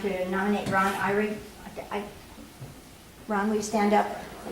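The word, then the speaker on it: Ihrig: For Goldendale #3, I'd like to nominate Ron Irie. Ron, will you stand up, please? And spell your name. I-H-R-I-G. I-H. R-I-G. The H is silent.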